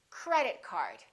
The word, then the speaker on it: credit card: we stress compound nouns compound nouns are two words that represent one thing for example credit card credit card two words representing one object we stress the first word repeat after me credit card also say these two words as one word join them together don't say credit card say credit card let's